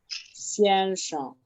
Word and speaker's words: 先生: Fíjense que cuando no tiene tono, simplemente pronunciamos la palabra como la pronunciamos sin ningún tono. Presten atención. Esta es 先生. 先生. ¿Y qué se hace? Se hace más énfasis en la que tiene tono.